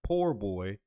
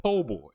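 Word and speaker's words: po' boy: has been saying the low tj is a poor boy and he's broke and that apparently he's a sandwich with shrimp in it okay he referred to a po boy oh okay there's you don't yeah you don't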